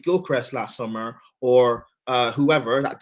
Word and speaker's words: Gyökeres: Well, his name is actually Gyökeres, is how you say it in Greek, but everyone says Gyökeres.